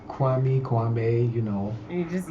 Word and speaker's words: Kwame: never catch it i mean it sounds it's kwame kwame you know you just used to it yeah uh so how do you say it kwami kwame kwami kwame komen kame yeah i i